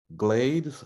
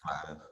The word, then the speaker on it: Gladys: And I think I said that last name wrong. Glades Wilson? Nigel, could you pronounce that for me, please? You said it right. It's Gladys Wilson.